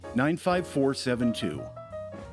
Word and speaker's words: 95472: The accent is on the four, 95472.